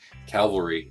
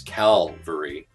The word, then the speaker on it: cavalry: I was saying Cavalry as Calvary.